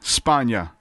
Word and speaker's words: Spanga: My guest today, joining me, Lori Spanga.